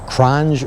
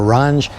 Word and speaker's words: Qronge: Well, I'm going to tell you, it's a, I don't know if you pronounce the Q, but a Qronge or a Ronge.